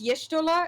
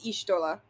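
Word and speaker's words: Y'shtola: it's yeah they um they change the pronunciation from around Reborn going forward yeah it's originally it's yishtola and then it becomes ishtola do the apostrophes that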